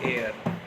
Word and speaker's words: heir: एयर हो गए, HEIR। इसमें H साइलेंट है तो इसका उच्चारण हो गया एयर।